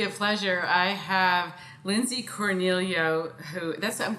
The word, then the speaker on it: Cornelio: I have Lindsay Cornelio, I'm pronouncing your last name right? Yes. Cornelio.